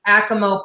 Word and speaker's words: Acoma: In particular, you are a Acoma Pueblo tribe, right?